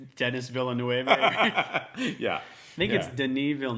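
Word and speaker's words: Denis Villeneuve: aspect of it and to be honest like Deniz bill knew I believe I don't notice a dude's name at least you tried what's your old pronunciation it's Dennis Villanueva yeah make it an evil dude you have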